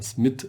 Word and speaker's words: Smith: auch genannt J Smith manchmal wird auch das TH die englische Aussprache nicht so verwendet man spricht das dann eher norwegisch aus Johann Oskar SM mit oder so er wurde geboren am 11